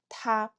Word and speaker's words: 他: You'll notice that they all share the exact same pronunciation, 他.